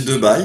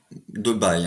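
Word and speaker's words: Debye: spécialistes en électricité donc j'aurai prononcé de bail mais en fait ouais ouais apparemment il n'ya pas d'amitié dans mon avis on doit dire de bahia monde et viacom du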